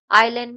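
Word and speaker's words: island: आइलैंड में S silent है।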